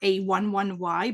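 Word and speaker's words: a11y: numeronym A1 y or a11 Y but accessibility often in digital world is uh shortened with this numeronym so you can pronounce it a11 y a 11 y or Ally so throughout the presentation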